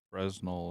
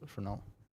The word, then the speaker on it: Fresnel: Fresno lens. No, it's called Fresnel. You wrote Fresno. Yeah. And you pronounce Fernel. Sounds French.